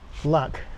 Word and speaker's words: lake: Lac. Lac is how lake is pronounced in Brummie.